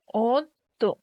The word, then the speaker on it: অদ্য: শব্দের প্রথমে অকার, পরে জ ফলাযুক্ত ব্যঞ্জন বর্ণ যদি থাকে, তাহলে অকারের উচ্চারণ ও এর মতো হয়। অদ্য, এর উচ্চারণ হবে অদ্য।